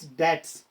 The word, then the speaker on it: debts: Its correct pronunciation is debts. B is silent over here.